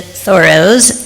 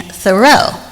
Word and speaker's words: Thoreau: For most of my life, I've been pronouncing Henry David Thorough's name incorrectly. I grew up saying thorough.